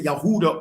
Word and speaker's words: Yehuda: Like the descendants of Yehuda or Huda, which is which is the true pronunciation of Judah.